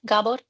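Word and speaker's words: Gabor: Gabbor and AI. Am I pronouncing it right? Gabbor like the Hungarian name.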